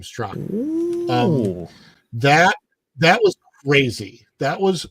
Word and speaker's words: Straka: Yeah, he pronounces his last name Straka.